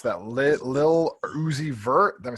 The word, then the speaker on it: Lil Uzi Vert: How do you pronounce that? Lil Uzi Vert.